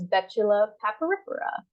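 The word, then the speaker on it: Betula papyrifera: white birch um and the way this is pronounced is Betula paparipera for our White Birch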